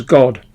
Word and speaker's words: GWAD: The head of her department was the internationally known GWA Dummer, known in the section as GWAD or pronounced as God.